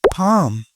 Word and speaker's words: palm: This is palm. This is palm. Here L is silent. Palm. Palm कहते हैं हथेली को.